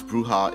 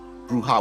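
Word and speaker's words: Brujah: as I always pronounce bruha in a Spanish manner bruha with a J as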